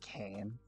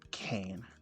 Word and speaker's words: Kane: it's supposed to be Kane my name's not Kane well I mean it is but it's not quite at the same time what do you mean it's actually pronounced Kan not Kane he enunciates his name